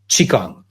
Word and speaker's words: Qigong: weather however you spell it in English it's pronounced Qigong and actually I was like you too I